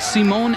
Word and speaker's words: Simon: it is not simon but simone anderson so you have simon torwy and simone anderson spelled the same way out on the floor